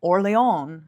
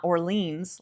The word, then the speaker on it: Orléans: I was like, I know how to pronounce all these French names, like Orléans. It's not Orleans, like I think it is from being an American.